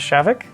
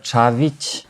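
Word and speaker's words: Čavić: say your last name actually no actually it's uh chavich but yeah it's hard to pronounce so that's great javik is fine i never knew that yeah you have those apostrophes at the end an accentation is a bit different so there are some pronunciations that are not common to a native english speaker great to know i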